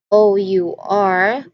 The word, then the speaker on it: hour: Because the initial letter again, which is letter H, is not pronounced. It's not enunciated. So we can take it as only OUR because it is also pronounced as our.